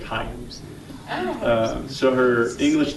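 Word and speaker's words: Hạnh: Her name it's spelled H-A-N-H, but it's got a little dot under the second H, so it's like Hein. So really the way that it sounds is just like Hein.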